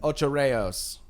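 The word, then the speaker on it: Ocho Rios: a day trip to otro Rios or how they pronounce it Oh Cho Rios ultra rails and and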